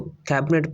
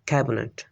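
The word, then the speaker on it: cabinet: कैबिनेट को कैबिनेट pronounce किया जाता है, कैबिनेट। इसमें जो मिडल ई साउंड है ये थ्रो द एलिजन डिसअपीयर हो जाता है।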